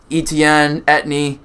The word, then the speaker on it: Etienne: Let's see if Travis Etienne, that's how you pronounce it, actually can stay healthy because he was a high draft pick for them last year.